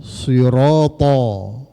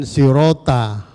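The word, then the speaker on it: صراط: To, sirata. Jangan sirota, ketak. Huruf to ini kalau tidak cermat akan berubah menjadi huruf ta nanti.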